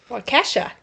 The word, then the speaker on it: Waukesha: Waukesha. The way it's spelled is not the way it sounds.